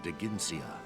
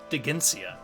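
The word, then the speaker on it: Dheginsea: accident the dragon king de ginsia oh i'm sorry i was pronouncing it wrong digencia okay however ike's former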